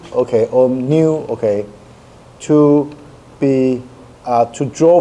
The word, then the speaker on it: nu: And that v, okay, actually should be pronounced as nu, okay?